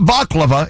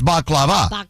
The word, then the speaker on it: baklava: But that baklava, as they say. Oh, yeah. It's not baklava, it's baklava. You got to say it right.